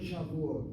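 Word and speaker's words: שבועות: Look at the word Shavuot. Look at the word Shavuot. I see Sha, I see Vu, I see Ot, I see a long vowel and a closed syllable. It has to be accented.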